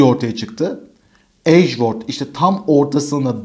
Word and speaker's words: Edgeworth: ismini Edge Edge Word ageworth diye okunuyor da biz böyle ifade